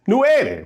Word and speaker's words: nueve: So number 9 is nueve, right?